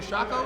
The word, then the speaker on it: Shako: Y'all have won the Silver Shako, is that how you say it? Shako, Silver Shako.